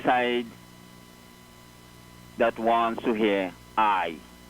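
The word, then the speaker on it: aye: All they are there to do is to add numerical value to the side that wants to hear I. And that I there is A-Y-E. It's spelled A-Y-E, I.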